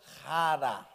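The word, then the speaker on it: χαρά: Hara. Está vendo? Alegria, felicidade, bem, chega o mauzinho para a direita, isso, aleluia. Lá está escrito xará, mas no grego pronuncia rara.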